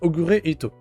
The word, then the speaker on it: Ogure Ito: Et d'ailleurs, petite anecdote, son vrai nom c'est Ogure Ito. Voilà. Et si vous le prononcez un peu vite, Ogure Ito, Ogret. Voilà.